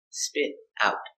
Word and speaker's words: spit out: Spit out. It is separable. I spit out the toothpaste or I spit the toothpaste out. Pronunciation. Spit out. The T is pronounced like a fast D.